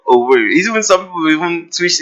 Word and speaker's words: Owerri: tell us, "Get choka Owere weregi Owere eweregi Owere." Yeah. So Exactly. that's the right pronunciation, but now it's called Owerri.